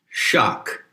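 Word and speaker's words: *sak-: sacrilege is the word shock which is generally spelled s a k but the s is pronounced with an h and shock is a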